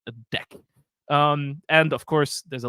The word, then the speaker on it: deque: Isn't that, couldn't it be like deque? Well, let me tell you, it's the only, I think, the only class in the Kotlin standard library that comes with a pronunciation guide. It is usually pronounced deque.